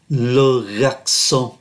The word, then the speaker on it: garçon: Ở đây trong từ này chúng ta thấy có CCD, chữ C này nó có CCD, nó có cái đuôi nhỏ nhỏ gọi là CCD. Giá trị phát âm của nó là S, C nhưng mà có cái đuôi gọi là CCD. Phát âm là S, Logaxon.